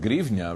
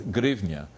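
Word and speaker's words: гривня: So it would be pronounced grivnya, really, by, and there you can see it written at the bottom, but it's still written with a H.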